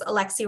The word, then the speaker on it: Alexis: So my name is Alexi. My name is actually spelled Alexis, but it's pronounced Alexi.